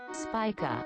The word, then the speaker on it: Spica: I keep saying. I don't know if I'm saying it right. Spissa. Spissa? Spica. Spica? Is that how you're supposed to say? Spica? Spica.